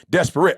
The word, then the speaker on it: desperate: carl's like it's three it's three syllables e desperate i like oh i didn't